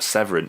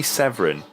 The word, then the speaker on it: Severn: Severn at this point, or Severin. Now, am I right? They say Severin. I say Seven. I would say Seven because that's Seven. how it's spelled, but they all say Severin.